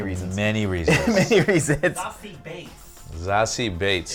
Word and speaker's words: Beetz: Zazie Bates. It's actually how you pronounce her name.